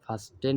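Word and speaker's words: fasten: belt লাগিয়ে নাও ফাস্টন এটা আর কি ইংরেজিতে উচ্চারণ করতে গেলে ফাস্টন হয় কিন্তু বাংলা উচ্চারণ লেখা ফাস্ট মানে কিটা উচ্চারণ হয় না আর কি তোফাসন ইউর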